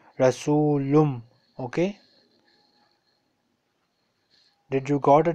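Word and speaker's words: رسولٌ: For example, the word rasulun, on normal occasion it is pronounced rasulun, but here we have after tanween we have ba, so it will not be pronounced like rasulun, it will be pronounced like rasulum.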